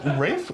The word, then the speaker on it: Ralph: And his name is spelled with an R-O-Y-C-E, but it's pronounced Royce. Royce. Royce, It's rather like than Rafe Royce. Fiennes. Yes. But completely different. Is it Rafe?